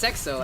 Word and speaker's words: Sexo: I think it's Sexo actually.